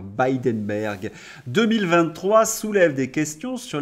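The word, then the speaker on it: Bilderberg: de trois commissaires au bindenberg alors certains me reprochent ma prononciation on dit pas bidenberg oui mais moi j'aime bien dire bidenberg 2023 soulève des questions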